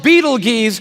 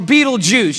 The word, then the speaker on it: Betelgeuse: It's called Betelgeuse or Betelgeuse. You can pick your pronunciation.